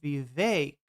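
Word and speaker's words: Vivek: Put all my jellyfish on Vake rhymes with cake.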